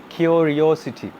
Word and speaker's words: curiosity: go to holy ambrose curiosity all right it's curiosity all right cure your city last but not